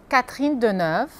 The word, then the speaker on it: Catherine Deneuve: E algumas atrizes famosas, como Catherine Deneuve, Brigitte Bardot, Audrey Tautou, Juliette Binoche, Emmanuel Béart, Gérard Depardieu.